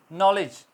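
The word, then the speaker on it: knowledge: नॉलेज, नॉलेज के अंदर के silent, rest of the word will be pronounce otherwise.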